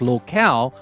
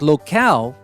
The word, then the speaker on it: locale: traveled from one exotic locale to another. It is not local. If you don't have the E at the end, it would be local, which is a different word. But locale, L-O-C-A-L-E, is different.